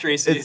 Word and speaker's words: Treacy: Is it pronounced Tracy? It's pronounced Tracy. It's EA.